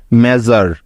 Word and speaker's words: measure: ঠিক আছে, অর্থাৎ এস এর উচ্চারণটা এখানে হচ্ছে জ এর মতো, তাই তো?